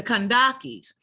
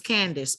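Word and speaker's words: Kandake: ancient kush so the kandakis also know y'all know the c and the k are interchangeable so you see the cage pronounced kandaki uh also known as candace or kendaki or kentaki was the title for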